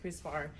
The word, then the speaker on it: CRISPR: or an enzyme called Chris bar which is C R I SPR kind of pronounced like Chris bar cast nine which is